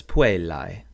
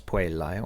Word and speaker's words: puellae: For first declension nouns, the nominative plural is an I, an AE, pronounced I, which gives us puellae.